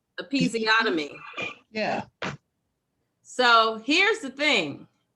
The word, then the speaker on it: episiotomy: Epistemomy. How do you pronounce that? Episiotomy.